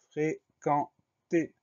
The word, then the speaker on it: fréquenter: Le mot suivant, c'est le mot fréquenter. Première syllabe, fré, F-R-E accent aigu. Deuxième syllabe, quand, Q-U-E-N. Le son K, on s'obtient avec le Q-U. Le son en va s'écrire E-N.